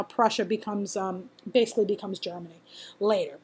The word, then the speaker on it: Prussia: Austria and Prussia again it's Prussia with a pea I did not mispronounce that if you want to